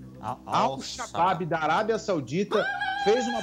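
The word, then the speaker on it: Al-Shabab: O Glauco, presta atenção na pronúncia do clube, tá? O Al-Shabaab. Al-Shabaab da Arábia Saudita fez uma proposta, aqueles salários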